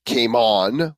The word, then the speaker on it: Cayman: Well, thanks for joining us here from Grand Cayman, which I believe is perhaps the correct pronunciation.